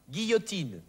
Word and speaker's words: guillotine: Folgt aber auf das G irgendein anderer Buchstabe, so wird das G wie G ausgesprochen. Zum Beispiel vor A, O oder U. Gamma, Gobelin, Guillotine.